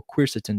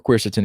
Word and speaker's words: quercetin: and there's NAC and Chris Eaton or queer sits in depending on how you want to pronounce it but it is it